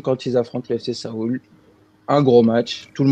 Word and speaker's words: Séoul: Ça se prononce « so » et « oul ». Seoul.